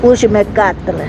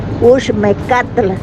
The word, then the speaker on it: Uxmecatl: Los Uxmecatl, se pronuncia así, se escribe Ush con un apóstrofe, Uxmecatl.